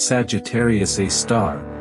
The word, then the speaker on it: Sagittarius A*: This is Sagittarius A*, pronounced Sagittarius A star, the supermassive black hole at the center of our galaxy.